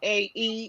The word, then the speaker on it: Shae: SHAE. It's not HAAY. It's HAAE. So when you spell it out, that's how you spell it.